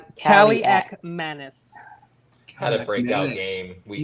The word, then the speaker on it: Kaliakmanis: How do you pronounce it? Kaliakmanis.